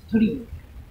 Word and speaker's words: torii: This frame is Torii, the pronunciation is Torii.